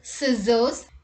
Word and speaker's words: scissors: c rule number one c is not pronounced in the combination sc let's look at the examples muscle scissors ascent miscellaneous fascinate scenario